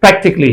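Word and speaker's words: practically: है वो प्रैक्टिकली है प्रैक्टिकली इसमें ये ए जो है ना ये साइलेंट है बहुत से लोग इसको प्रैक्टिकली बोलते हैं पर प्रैक्टिकली इज द रंग प्रोनंसिएशन इसका जो सही प्रोनंसिएशन है वो प्रैक्टिकली है यानी इसमें ये ये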